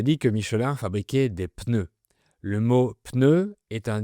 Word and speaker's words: pneu: Tout le monde dit un pneu, mais, en tout cas, on prononce le ‘P’ au début, un pneu.